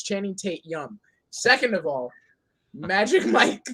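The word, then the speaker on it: Channing Tatum: point first of all say it right it's channing tate yum second of all magic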